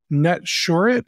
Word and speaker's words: Netsurit: and Orin is the co-founder and CEO of net shet is that the right way to pronounce it perfect perfect I like hearing that